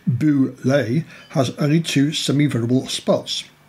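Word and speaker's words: Bulette: favor the front two the boulet pronounced boo lay has only two semi-verbal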